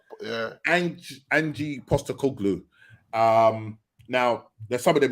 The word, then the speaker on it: Postecoglou: Now, Postecoglou. That's it. Postecoglou. Angie Postecoglou.